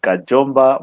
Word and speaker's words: Kajomba: Kajomba.